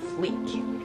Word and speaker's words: fleek: No, that's not a freak with an R. L. Fleek.